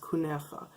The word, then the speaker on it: kunafa: It's spelled kunafa, but it's actually pronounced kunefa.